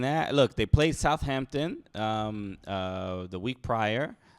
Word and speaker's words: Southampton: that's kind of crazy you don't pronounce the h not you you're not